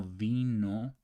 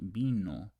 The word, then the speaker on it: vino: Remember that there's no vino in Spanish. It's pronounced vino with a B, with this B right here.